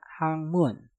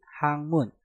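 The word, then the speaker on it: 학문: Untuk contoh yang terakhir ada hangmun. Hak diakhiri dengan giok, setelah itu diikuti kata mun yang diawali dengan miem. Dan cara pengucapannya menjadi hangmun, hangmun, hangmun, hangmun.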